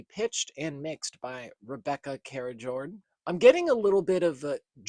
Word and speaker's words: Karijord: Internet's telling me it's pronounced Karijord. I hope that's right.